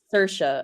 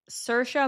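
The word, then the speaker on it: Saoirse: Cersa, I think is how you say it. S A O I R S E, but it's like Cersa Monica is like her name.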